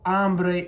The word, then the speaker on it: hambre: have man so tengo hambre and not tengo hombre for I'm hungry in Spanish and then here also the H is silent so I'm not going